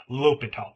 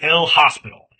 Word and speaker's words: L'Hôpital: But, I'm going to call him L'Hôpital. Please do not call him L'Hospital. Uh, I think that's a little, uh, you're not even making an attempt at that point.